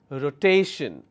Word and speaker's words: rotation: many syllables I have Rho teh shin even in this case doesn't matter how many syllables I'm adding on the left side my syllable stress will always be on the second last rotation let me add more